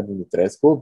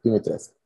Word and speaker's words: Dimitrescu: descubrí cómo se pronuncia, yo pensé que era Dimitrescu, pero bueno, Dimitrescu, o como le quieran decir.